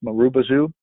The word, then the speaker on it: Marubozu: But it's pronounced Marubozu is the proper pronunciation of it.